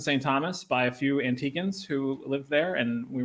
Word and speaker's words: Antigua: Fun fact, that is how you say the name of that island. It is not Antigua. Ironically, it's anglicized by the Americans to be Antigua because of the Spanish influence, which is the word means ancient, but the locals call it Antigua.